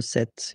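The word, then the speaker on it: sept: 27, remember set, it was this P disappear, you don't pronounce it.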